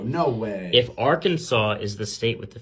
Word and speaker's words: Arkansas: ends with an s Arkansas right because it's silent s uh okay is that